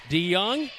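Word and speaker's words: DeJong: this one here tonight D young the J is pronounced like a y so many years ago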